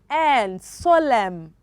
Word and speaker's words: solemn: the thread one s-o-l-s-o-l-e-m-n solemn solemn letter a letter n okay is silent is silence and the